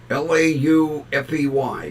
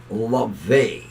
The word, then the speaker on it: Laufey: Laufey, but it's pronounced LaVey.